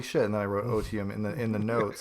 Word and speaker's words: otium: And so I like latched on to this word like I O like O T IU M O otium I think it's pronounced and it just means